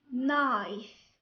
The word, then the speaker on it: knife: When K comes before the letter N at the beginning of a word, K is silent.